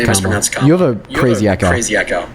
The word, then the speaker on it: Kamala: Name is pronounced Kamala.